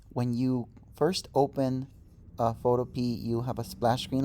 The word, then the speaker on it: Photopea: introduction to the program photo p it is spelled photo p like the vegetable p e a that's it and if